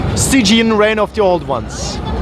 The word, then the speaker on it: Stygian: Did I pronounce that correctly? Stygian, Reign of the Old Ones.